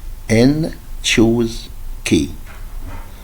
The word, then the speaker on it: N choose K: It's pronounced as N choose K. It means that you have to choose K from N.